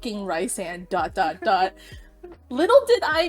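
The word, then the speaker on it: Rhysand: about it don't comment anything about how we pronounce ryzan that's how we pronounce it but I said rice and dot dot little did I know I'd be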